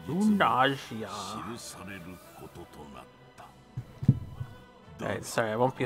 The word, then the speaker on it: Runersia: Find it weird they pronounce the S instead of Sia as Gia. Runersia.